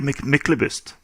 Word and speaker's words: Myklebust: we started recording to get bust right in English how do you say it in Norwegian usually michelobist okay excellent so